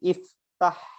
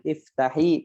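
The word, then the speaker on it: افتح: dan sini ada lagi contohnya ya iftahil menjadi iftah enggak usah dikasih harokat kasroh gitu ya jadi bacanya bukan miftahi tapi iftah kalau kita memerintahkan anak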